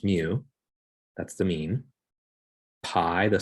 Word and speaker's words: mu: notation is different we have this greek letter pronounced mu that's the mean pi the symbol for pi